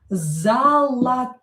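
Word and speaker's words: золотой: Zolotoy, zolotoy. O not stressed, we pronounce as a.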